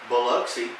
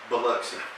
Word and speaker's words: Biloxi: I think I just realized that Biloxi is not spelled the way we pronounce it. It is But not. that's just it. But it's pronounced Biloxi.